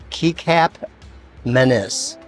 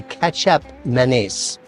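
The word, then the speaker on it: kecap manis: ingredient here is looks like it might be pronounced Kap Menace but it's actually ketchup Menace it's uh used in Thai cooking quite a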